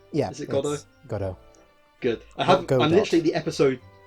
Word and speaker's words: Godot: Did I pronounce that right? Yeah. Is it Godot? Godot.